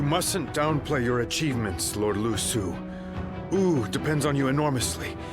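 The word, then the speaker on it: Lü Su: You mustn't downplay your achievements, Lord Lu Su.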